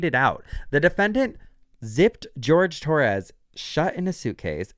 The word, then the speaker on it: Jorge: articles about this story, it's spelled Jorge, but the news always reports on his name like George. So, apparently that's how he pronounced it.